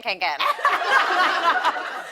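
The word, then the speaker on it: Kånken: I mean, my hydro flask was in my Fjallraven Kinken. Yes. you learned how to say it, too. My Fjallraven Kinken.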